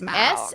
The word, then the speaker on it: Smaug: I think I'm saying it the way Benedict Cumberbatch says it. It is Smaug.